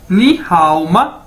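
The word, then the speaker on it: 你好吗: ये देखें, ये आ गया हमारे पास नी हाओ मा, ये इसकी प्रोनाउंसिएशन है, यानी इसको कैसे बोलना है नी हाओ मा।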